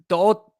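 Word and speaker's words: To'oTo'o: Henry, it's Do'o. They don't say it like that on TV, but that's what it is.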